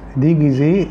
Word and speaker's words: déguisé: ملاحظين ان الصفة التي تنتهي ب E accent تجي زي déguisé, زي garé. النطق واحد, نطق المذكر زي نطق المؤنث, ديجيزي ديجيزي, غاري غاري.